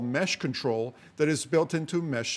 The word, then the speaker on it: MeshCtrl: control it's actually it's i say mesh control but in reality it's spelled mesh mtrl mesh control and you hit enter